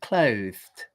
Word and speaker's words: clothed: But notice that you can see my tongue very clearly, like that. Clothe. See, it looks like I have two bottom lips. Notice also I'm raising my top lip, and you can see my teeth. Clothe. Okay. And again, then I'm just going to put the t on the end. Clothed, like that.